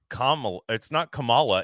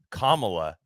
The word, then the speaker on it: Kamala: The day it happened, there were like people, clips of videos of like women saying, it's not Kamala, it's Kamala, get it right. Like that, like the whole pronunciation thing, Wingardium Leviosa shit that they do with her name.